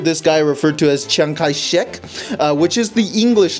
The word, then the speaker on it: Chiang Kai-shek: It's just that the Cantonese version of this guy's name is Chiang Kai-shek, right?